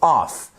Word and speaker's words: off: Donc faites vraiment attention déjà à bien prononcer. Of, off.